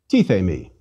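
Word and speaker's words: τίθημι: Let's read it slowly. T, the, me. And faster. Tithe me. Again, three vowels, three syllables.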